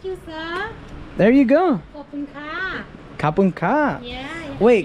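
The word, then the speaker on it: ขอบคุณครับ: Kapun ka. Kapun ka. Yeah. Wait. You have to say kapun kap. Kapun kap. Yeah, kap. Kap is for the men. Yeah. Ka is for the woman.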